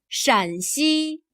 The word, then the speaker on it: 陕西: There is a very subtle difference in the tone of the first syllable. Here 山 has a high level tone. 山西 Here 陕 has a lower, falling tone. 陕西 Unless someday you choose